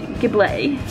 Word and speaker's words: Gible: I know I say it right out loud, but in my head whenever I see it, I read Ghibli.